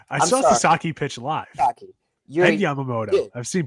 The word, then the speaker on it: Sasaki: Roki Soroki, if I say his name right. I saw Sasaki pitch live. Sasaki.